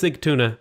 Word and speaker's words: Sigtuna: I know it's Sigtuna, but I changed it to Sagunta because I kept saying it wrong.